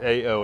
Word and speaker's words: AO: new gravel buy called the owl or a oh it's spelled a o and it's the Maori word for earth and there it's a